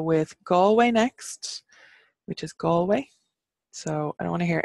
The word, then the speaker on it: Galway: we're gonna go with Galway next which is Galway so I don't wanna hear any other pronunciation of a place everybody says Galway that's